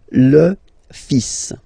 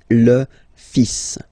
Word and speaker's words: fils: So it's le, and then even if you've got this L, well, basically you don't pronounce it, and then strangely you pronounce the final S. Le fils. Le fils. Le fils.